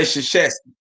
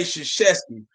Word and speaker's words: Krzyzewski: But y'all can say Krzyzewski. Y'all can say Krzyzewski, Mike Krzyzewski, whose name start with a K.